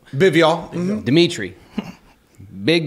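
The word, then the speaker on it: Bivol: Dimitri Bivial. Bivial.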